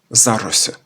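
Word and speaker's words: за Рось: Знахідний відмінок є - це їх зарос. За річку Рось. Тут наголос на за, оскільки у назві річки, у корені у нас єр, який несе власного наголосу.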